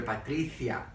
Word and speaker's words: Patricia: David, and of course the little sister Patricia, which rhymes with Galicia.